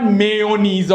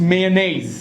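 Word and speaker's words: mayonnaise: इट्स a onion right it इज नॉट मेयोनेज़ और मायोनिज इट्स मेनेज सो बोला ने मेनेज right so you have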